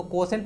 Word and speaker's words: quotient: चलिए, तो इसको अब QUE मत पढ़िएगा, बहुत लोग इसको कोटेंट पढ़ते हैं, उसको कोसेंट पढ़ा जाता है, QUOTIENT।